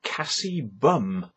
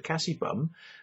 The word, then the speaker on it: Kassie Bumme: So the channel is called Kassie Bumme, right?